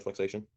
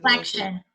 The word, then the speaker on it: flexion: The first one be plantar flexation. The gas, yep, yep. Okay. Very good. Is it how do you say that? Flexion, Flexion. Oh, yeah, I was way off. Okay. like a T-I-O-N sound.